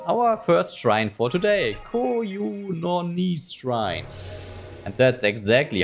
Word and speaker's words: Kyononis: Kyononis shrine. And that's exactly how you pronounce it. Kyononis.